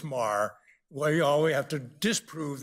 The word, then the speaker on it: Meagher: Is it meager? It's actually pronounced Marr, like M-A-R-R.